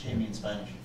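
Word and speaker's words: Jaime: this was the um what Jamie yes H see J is pronounced H there we go um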